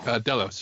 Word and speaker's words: Delos: Like we see the head of how's it pronounced? Delios or Delos? Does anyone know? Delos.